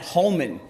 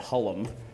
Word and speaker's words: Hullum: And, of course, you know him as the lovable Sarge and the not-so-lovable Doc, Mr. Matt Holman. Holman. That was, of course, the French pronunciation of Matt Hullum.